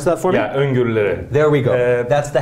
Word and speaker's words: öngörüleri: Can you pronounce that for me? Yeah, öngörüleri.